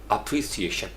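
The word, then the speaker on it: appreciation: एप्रीसिएशन 5 syllables होते हैं और इसको पढ़ेंगे कैसे, यानी ऐप जो है उसको पढ़ते हैं अप्रीसिएशन। तो हम चूंकि ऐप ए लिखा हुआ है तो हम इसको ऐप करने की कोशिश करेंगे, जबकि मैंने आपको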